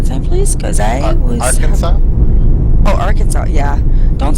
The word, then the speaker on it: Arkansas: Yes, That word you were saying, that Arkansas Yeah. thing, it's Arkansas. Arkansas.